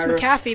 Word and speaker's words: McAfee: Oh, it's pronounced McAfee.